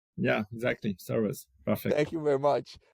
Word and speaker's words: Soöruz: How do you pronounce it? Soruz. Soruz. Yeah, exactly. Soruz.